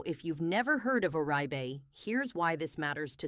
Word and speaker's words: Oribe: Now if you've never heard of orbe here's why this matters to so many people. Oribe pronounced Orbe is a genuine luxury name in hair care.